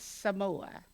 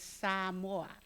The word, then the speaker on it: Samoa: And so tonight we're going to talk about, and by the way, how you pronounce my country, it's not Samoa, it's Samoa.